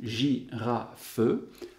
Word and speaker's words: girafe: Et ce E, généralement, on n'entend pas, on n'entend presque pas. Mais si on explicite, si on exagère notre prononciation, girafe, alors il y a 3 syllabes. 2 syllabes quand on le dit et 3 syllabes quand on l'écrit.